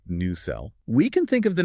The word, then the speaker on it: nacelle: That is pronounced new cell.